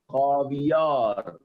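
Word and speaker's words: خاویار: And the last one, last but not the least, is called khavyar. Caviar. Egg. Caviar. Tuke mai. Khavyar. Caviar. खावियार. Bale. Khavyar. Caviar. Caviar. Caviar. First pronounce it carefully.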